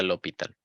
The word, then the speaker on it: L'Hôpital: El líder de ese partido era L'Hôpital, se pronuncia L'Hôpital, ¿ok?